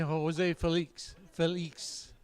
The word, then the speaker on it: Jose Felix: Joe, did we settle on a pronunciation here? I'm thinking Jose Felix. Jose Felix, spelled F-E-L-I-X. Felix, okay. Jose Felix. Yep.